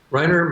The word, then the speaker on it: Rainer: Morten, how is his first name pronounced? Rainer? Rainer Maria Rilke.